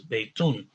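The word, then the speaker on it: بيتٌ: just like any bait, then we know that means that it's pronounced baytun, that the dhamma on the end is double. So it's not baytu, it's baytun.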